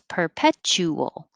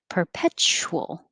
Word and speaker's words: perpetual: more time threshold perpetual you can say with four syllables perpetual or make it shorter perpetual kind of squish it together perpetual 28 virtue irresistible irresistible